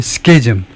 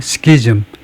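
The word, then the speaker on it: schism: 발음 표시를 해 놨네 스케즘 스케이즘 또는 시 아이 발음을 안 해도 되긴 하네요. 스키즘 예 근데 스키즘 발음을 하는게 일반적인 거 같아요. 더 많이들은 거 같아요. 시즌보다는 스키스 그래서 어 이거요 deep and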